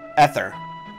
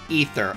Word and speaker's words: Ether: Ether. Okay, so it's pronounced with the long E instead of the short E.